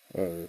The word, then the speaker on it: Gnosis: Now, that's, how do they pronounce it again? It's Gnosis.